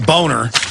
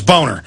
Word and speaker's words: Boehner: of his real name boner I don't know that's how it's pronounced it's German it's boner I don't know why